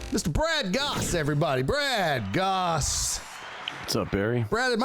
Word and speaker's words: Gosse: Because I don't know, with the silent E in there, that's very Canadian. You nailed it. Most people call me Goose.